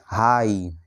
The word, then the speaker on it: high: তারপর এখানে দেখো বাকি শব্দগুলিতেও একই রকম করে আই এর পরে GH রয়েছে, তাই এই শব্দগুলিতে GH এর উচ্চারণ হবে না। যেমন দেখো HIGH, হাই এর অর্থ হলো উচ্চ।